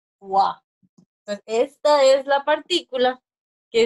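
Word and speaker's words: は: esa partícula se escribe como hoja pero se pronuncia gua esta es la partícula que es que hemos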